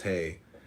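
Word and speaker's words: ה: Comment in H-E-H, pronounced hey, transcribed as H, the number 5 meaning window, the constituting intelligence.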